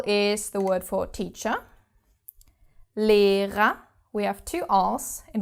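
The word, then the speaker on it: Lehrer: the second syllable and the second R is not pronounced because it's the last letter of the word so Li da and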